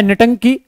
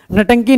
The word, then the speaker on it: Ntanki: तो नागालैंड में सिर्फ एक नेशनल पार्क है जिसका नाम है नटंकी, NTANKI, ये इसकी स्पेलिंग है, याद रखिएगा। नटंकी नेशनल पार्क क्यों प्रसिद्ध है?